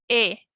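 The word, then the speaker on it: へ: Se pronuncia E, aunque se escriba con el kana G, que ya habíamos visto que es de la familia de la H, y su romaji es G. Aunque sea la pronunciación es E, ¿ok?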